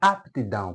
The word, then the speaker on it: aptidão: não não aqui já esse p não é surdo não é uma letra surda ou muda este p é pronunciado OK aptidão portanto aptidão continua sendo